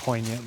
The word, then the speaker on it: poignant: I was going to say poignant, but then I just felt like I was saying poignant to to use a word with the silent G as you do in the swamp.